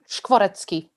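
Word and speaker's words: Škvorecký: Did I pronounce that correctly? Skvoretzky, yeah.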